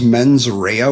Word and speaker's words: mens rea: And I'm really bad with my Latin, but I believe it's pronounced as mens rea, which means malicious intent.